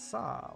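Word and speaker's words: サ: first one this is pronounce it as sa like in the word sun i don't think that's quite right actually sub is not quite the same as saw like soccer would be right i think or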